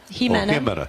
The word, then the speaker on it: Hima: Mena bonitz did IA Hima Hima soft pronunciation silent ey okay uh golf is